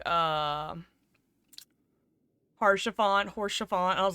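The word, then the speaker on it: Haurchefant: You could have repronounced his name it probably, but they were like, "Uh, harshant horse chiffon." I was like, "Yeah." And I looked it up and I'm like, "The H is silent.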